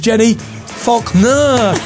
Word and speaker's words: Jenni Falconer: Ladies and gentlemen, it's the one and only, let's pronounce it correctly, it is Jenni Falconer. Jenni Falconer, everybody, come on, Jenni Falconer.